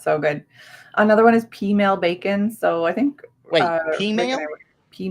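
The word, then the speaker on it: peameal: Another one is pea meal bacon. So I think pea meal? Pea meal. Like female, but with a P. Well, it's spelled pea meal, but it's pronounced pea meal bacon.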